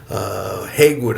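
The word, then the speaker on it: Hagood: Johnson Haygood is the Haywood, I think is the actual pronunciation, is a descendant of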